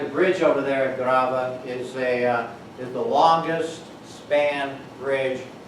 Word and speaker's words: Grave: It looks like it says grave. It's pronounced grava. Grava. Not grave.